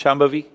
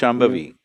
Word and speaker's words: Shambhavi: Can you pronounce Shambhavi?